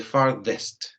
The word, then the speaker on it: farthest: Pronúncialo como una D de dedo, the farthest.